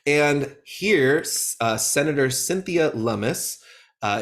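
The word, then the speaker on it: Lummis: here uh Senator Cynthia lumus uh it rhymes with hummus it uh now the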